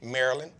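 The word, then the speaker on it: Maryland: said DMV I said but where she said Marilyn I said see I knew it's your PA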